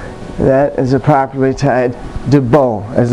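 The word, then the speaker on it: 도복: That is a properly tied debo, as it's called in Taekwondo. Debo, D-O-B-O-K, debo. The K is silent.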